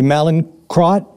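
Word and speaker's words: Mallinckrodt: From what I understand, in 1942, there was this this company um which I hope I'm pronouncing correctly, Malen Crot.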